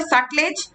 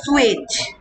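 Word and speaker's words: Sutlej: অনেকে এটাকে বলে সাটলেজ, অনেকে বলে সুয়েজ, ঠিক আছে? দুটোই ঠিক, যারা যাহাই সাটলেজ তাহাই সুয়েজ। টি এর উচ্চারণ বেসিক্যালি হয় না, কিন্তু আবার অনেকে আজকালকার দিনে এটাকে সাটলেজ বলতেও পছন্দ করে। দুটোই মানে দুটোতেই কোনো ভুল নেই, ঠিক আছে?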